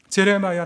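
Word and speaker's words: Jeremiah: 제레마야 란피에르. 이름을 이제 영어로 발음하면 제레마야인데 한국식으로 말하면 오늘 우리가 본문에서 읽은 예레미야가 되는 것이죠.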